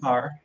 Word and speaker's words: Kerr: So definitely I understand when people have an appreciation when people say Kerr, but I prefer Carr.